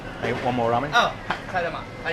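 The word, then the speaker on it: 替え玉: Oh, kaidama.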